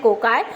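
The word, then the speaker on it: cocci: सबसे पहला जो शेप होता है वो होता है कोकाई. कोकाई जो, या इसको आप सिंगुलर अगर आप करो प्रोनाउंस तो कोकस, ये राउंड होता है, ठीक है, गोल होता है, स्पेरिकल होता है.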